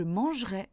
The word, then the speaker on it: mangerai: Si vous voyez les lettres G et E ensemble, vous avez tendance à le lire je. Et bien pourtant, le E de je dans un mot ne se prononce pas. Par exemple, je mangerai ou encore je mangeais.